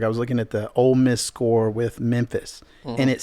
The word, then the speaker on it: Ole Miss: miss fan and so old miss they roll into knoxville they're playing knoxville you say old miss old no o-l-e i said it wrong already oh oh it's ole miss for sure i just just don't